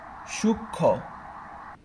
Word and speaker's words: সূক্ষ্ম: বিষয়টা কেমন দেখি, যে যদি এরকম থাকে যে সূক্ষ্ম, সূক্ষ্ম, সূক্ষ্ম, ক্ষীয়, তারপরে হচ্ছে ম, সূক্ষ্ম। তো এই যে ক্ষীয় নিজেটা একটা যুক্ত বর্ণ, তাই এর সাথে ম যুক্ত হওয়ার ফলে কি হবে না, ময়ের উচ্চারণটা হবে না।